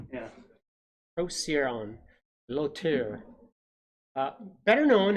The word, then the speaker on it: Procyon: it is greek and the standard pronunciation is procyon procyon which is how i would do that like if i was just reading it but there's a phonetic spelling in there that doesn't seem to agree with that so maybe there's some dispute as to how to pronounce it yeah there is talking about the scientific name right there so that that uh particular site was suggesting that the c is a s sound yeah proceed on low